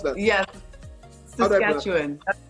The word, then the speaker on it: Saskatchewan: How do I pronounce that? Yes, Saskatchewan. That's how I would say it. Everyone's one more time. Could you please repeat it again? Saskatchewan.